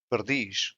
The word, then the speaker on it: perdiz: Iz, which has the same sound as is, for example, perdiz, which means partridge, the stressed syllable is in dish.